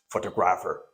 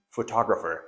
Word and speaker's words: photographer: No, actually, it is not pronounced photographer. Most of the people may pronounce the word photographer. because they think that this is photo, this is graph, and this is photographer. No, the pronunciation is see, photographer.